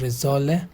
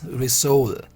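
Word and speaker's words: rissolé: we have is resolu it's not resolute let me tell you this is resole okay and atma soul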